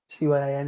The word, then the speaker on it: cyan: Anyway, I'm just going because like cyan, C-Y-A-N, it's pronounced cyan, isn't it?